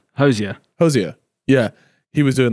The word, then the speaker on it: Hozier: Hozier.